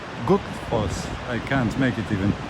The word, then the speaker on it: Gullfoss: Like it's written like Gullfoss, but the double L, the Icelanders pronounce like all together, but a little bit inside of your throat. So Gullfoss, Gullfoss.